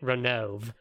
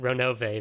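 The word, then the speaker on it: Ronove: had been pronouncing it renove like literally until a couple weeks ago when i started reading episode three with the voice acting and they pronounce it ronovae very specifically so but we get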